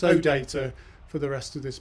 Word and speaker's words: OData: a musical joke about those who don't know whether to put the stress on the first syllable or the second syllable some of you will be saying oh data but of course it's oh data for the rest of